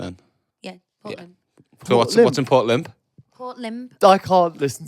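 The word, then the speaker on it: Lympne: everyone gives shout at me if you're saying Port lymph what is it not that it's Port limp I've never even answer it's Port limp Port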